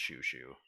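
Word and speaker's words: Chouchou: spelled this way the c-h-o-u-c-h-o-u but it is pronounced shushu or uh sure sure you know sure [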